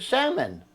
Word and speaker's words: salmon: I said, salmon.